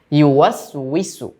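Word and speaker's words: يوسوس: এই শব্দটার মধ্যে অনেকেই উচ্চারণে একটু ভুল করে ফেলে। ইউওয়াসউইসু শব্দটা আমি আবার বলছি, ইউওয়াসউইসু, ইউওয়াসউইসু, প্র্যাকটিস করব বারবার।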